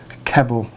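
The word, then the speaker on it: Klippel: have pronounced that right it's a k l i p p e l keble I believe that's how you pronounce it basically what that means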